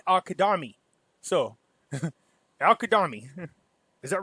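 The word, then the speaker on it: al-Kadhimi: was here because I was curious how you pronounce it. It's not Al Kadimi, it's Al Kadami.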